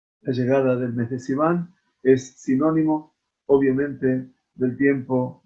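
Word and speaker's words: סיון: utilizando la palabra Sivan, que se escribe con S, pero la transforman con la Samach, la leen como la letra Zain, y dice que Zivan representa Ziv Penehem, significa el resplandor de los rostros.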